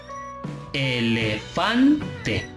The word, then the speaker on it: elefante: Elefante. Vean, elefante. Fan es la sílaba donde recae más la fuerza, por eso es acento prosódico.